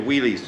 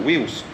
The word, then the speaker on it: Wheelz: Right, I'm ready to go with wheelies. Is it how do you pronounce it? Wheelz.